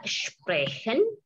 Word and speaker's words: sprechen: SP, ST, SCH dibaca schwimmen.